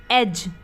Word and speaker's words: edge: या जैसे एज, EDGE, एज, अब एज में भी डी के बाद क्या आ रहा है, जी आ रहा है, इसलिए यहाँ पर भी डी क्या है, साइलेंट है, यानी कि वो नहीं बोला जा रहा है। हम क्या बोलते हैं, एज।